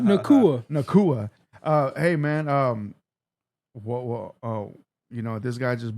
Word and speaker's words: Nacua: And also Puka Nunca, that's how you pronounce it, right? Nacua.